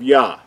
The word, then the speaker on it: Yah: from right to left the first two letters are pronounced as ja in the english letters we would use the y-a-h which will give us what these two letters would sound like now we know that